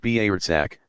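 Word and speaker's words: برزخ: On the basis of that accounting, individuals will go across a narrow passage of no return called the Barzakh, pronounced Barzakh, to one of several destinations.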